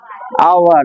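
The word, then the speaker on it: hour: আওয়ার হবে তো না হাওয়ার উচ্চারণ হবে আওয়ার আওয়ার তাহলে হাওয়ার কিন্তু নয় কিন্তু ইট ইজ এন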